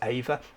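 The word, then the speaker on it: Eimhir: cell key main character Ava uh the spelling of that is EI m h i r which a lot of people wouldn't look at as Ava I think it's maybe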